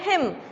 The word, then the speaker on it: hymn: हाँ जी, next literary term है हिम, HYMN, हिम, ठीक है, ये एन साइलेंट है, हिम नहीं है, हिम HYM, ठीक है।